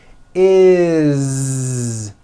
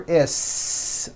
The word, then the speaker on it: is: Is. It doesn't matter that it's spelled with an S. It's never is, unvoiced, never. It's always is with a voiced Z.